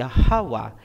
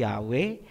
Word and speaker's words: Yahawa: Ang pangalan ng Ama ay Yahawa. Hindi Yahwe, hindi Jehova, hindi Ahaya, hindi Yahova at lalong hindi Jesus Christ.